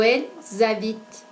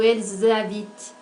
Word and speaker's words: habitent: Note también que cuando pronunciamos la conjugación de las terceras personas en el plural, aparece el sonido z. Ese sonido lo encontramos entre el pronombre y el verbo.